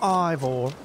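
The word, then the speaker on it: Eivor: taking a look at male evor ivor it's pronounced eyeball now uh we're gonna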